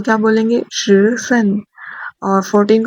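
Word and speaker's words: 十四: 13 को क्या बोलेंगे, श सन, और 14 को क्या बोलेंगे, श सु, श सु।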